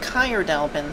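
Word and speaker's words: Caer Dallben: Okay, I looked it up real quick and it seems to be pronounced Kyrdalbin, so I'm gonna try and start referring to it as that.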